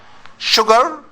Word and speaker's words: sugar: Sh sugar and Sh the only two words that have is you and we pronounce it sha sugar and sure like Insurance sure the same sure yes but is you